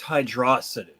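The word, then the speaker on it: Hydrocity: dick measuring contest uh i believe it's pronounced hydrosity uh i believe you're [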